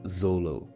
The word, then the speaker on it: Zoro: Many times, the directors wrote Zoro's name as Zolo, and this is actually not a mistake. This happens because of a peculiarity of the Japanese language. In Japan, the letters L and R are pronounced the same way.